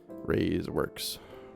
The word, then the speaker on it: Rays Works: again, this is from Rays Works. You can just Rays space Works. It is spelled exactly how it sounds. R-A-Y-S space W-O-R-K-S. Rays Works.